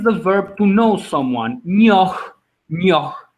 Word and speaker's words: njoh: Nyoh, nyoh. Now I pronounce it as nyoh, like that. That age is silent again.